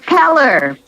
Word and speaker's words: Peller: I know it sounds like an R because it should be, but that doesn't, I'm over it. Whatever works. Yeah. What is it? Pronounce it for us. It's Peller. Like a Peller. propeller or something like that. Yeah. I mean, and propeller. people even are like, yeah, like a propeller.